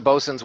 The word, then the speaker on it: boatswain: So that's a bosun's whistle, and it's spelled boatswains.